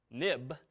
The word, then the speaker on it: xib: now now but also this xib file pronounced of course nib nib for historical reasons when as soon as the nib file became an XML file they renamed it xib but we still say nib now notice nib or